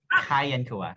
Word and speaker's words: Kian Kua: Oh, I mispronounced his name. His name is Kian Kua, and there he is.